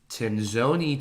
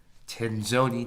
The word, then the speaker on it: Tenzoni: So next we have Scott, and his business name is pronounced Tenzoni Tech. Tenzoni Tech.